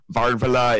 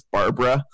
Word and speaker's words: Barbara: And it took me a few days to realize that Chileans pronounce their B's a lot like V's. And so her name wasn't Varvala, it was Barbara.